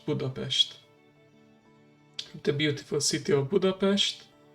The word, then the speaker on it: Budapest: The first subway line of continental Europe was built in Budapest, or as we like to pronounce it in our native language, Budapest.